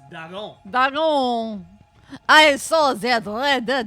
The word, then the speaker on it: Dagon: No, it's pronounced Dagon.